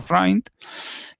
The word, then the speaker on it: Freund: El más famoso es el ayudante que se llama de Freund, que se escribe Freund, pero los alemanes dicen Freund, o sea que hay que decir Freund, y que este hombre